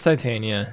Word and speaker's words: Titania: Off to build Titania or Titania. It's Titania. It's that's how it's pronounced, right? Yeah, like titanium.